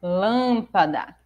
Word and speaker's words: lâmpada: delas é a palavra lâmpada porque as outras não são mas vamos lá a lâmpada porque a sua sílaba tônica é Lan que é a antepenúltima E aí acertou essa